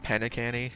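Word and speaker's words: Penacony: It bothers me that this is Pine Canny and she pronounces it Penacany. If this was just an E, this would not bother me.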